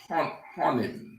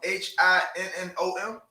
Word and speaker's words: Hinnom: it the valley of honor go ahead the valley of honor is an important topographical feature um h-i-n-n-o-m i know i was pronouncing it wrong right go ahead the valley of hinnom is the important typographical